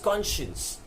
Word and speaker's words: conscience: of right and wrong so conscience as you hear it you think the spelling would be Co and SH E and seee conscience but that's not how it is actually spit it is said as conscience but the spitting is can science the science of you